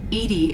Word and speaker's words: EDI: why are you named edie is the phonetic pronunciation of edi that is an acronym